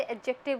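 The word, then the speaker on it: adjective: करता है यहां पर एडजेक्टिव में डी क्या होता है साइलेंट रहता है हम इसे एडजेक्टिव बोलते हैं तो नॉट क्वालीफाई करने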